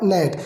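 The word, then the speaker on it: gnat: जी एन ए ए टी तो इसे क्या पढ़ा जाएगा? नेट। तो कौन सा हो जाएगा? जी। ठीक है? ऑप्शन ए आपका बिल्कुल सही आंसर हो जाएगा। इसमें जी लेटर साइलेंट है।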